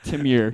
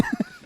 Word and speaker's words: Temur: So this is Temur. Team here. It's like lemur. But Temur. Temur. Screw Watsy. It's Garrick, not It's Garuk, not Garrick. And Oh. it's Timur. Temur. Like a demure woman. Temur.